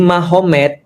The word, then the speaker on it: Magomed: Kalau kita tahu artinya ma berarti di sana Muhammad jadi Mahomed. Jadi tulisnya Magomet tapi bacanya Mahomed kan gitu kan ya.